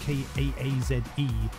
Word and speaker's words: Kaze: So up in the mix next, Kaze, Kaaze, which could also be pronounced as Kaz.